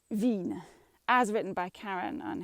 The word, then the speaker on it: vigne: sort of um challenging va vigne is v a veen as written by karen